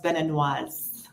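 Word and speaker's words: béninoise: So English, it's Beninese. Okay. In French, it's Beninois for a man, or general, and then for a female, it's Beninoise.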